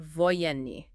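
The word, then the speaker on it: военный: And the third variation, the third is pronounced voyeni.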